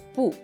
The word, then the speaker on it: 不: B, u, con cuarto tono, pu, pu.